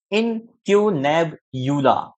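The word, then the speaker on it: incunabula: अब आगे देखिए, द टर्म इनकुनेबुला, प्रोनाउंसिएशन कैसी है इसकी, देखिए, इनक्यूनेबुला, इनक्यूनेबुला, समझ रहे हैं, द सिंगुलर इज इनक्यूनेबुलम, इसका जो सिंगुलर है वो क्या है, इनकुनेबुलम है।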